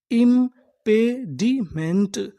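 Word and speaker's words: impediment: पढ़ेंगे हम लोग मेंट पूरी मीनिंग क्या बनी इंपेडमेंट इंपेडिमेंट इंपेडिमेंट इंपेडिमेंट का मतलब होता है बाधा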